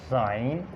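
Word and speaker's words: sign: एन से पहले examples देखते हैं, एन से पहले जी कहाँ पे साइलेंट होता है। अब एग्जांपल्स हैं जी की, जैसे साइन, रिज़ाइन, इसी तरह डिज़ाइन, इसी तरह अलाइन और कंपेन, और हो सकती है चैंपेन।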